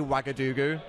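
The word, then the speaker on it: Ouagadougou: capital of bikina lizards it's actually wagadu you spell that o u a uh g o u a g o u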